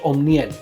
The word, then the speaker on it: Omniel: My parents are Cuban, so they would say it in Spanish, Omniel. Omniel is how you say my name in Spanish.